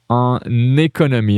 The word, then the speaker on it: en économie: En économie. And notice here I do a little link en économie.